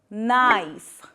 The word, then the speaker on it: knife: Like we use silent K usually at the start of the words like knee, not knife and knob. In all these words the K letter is silent.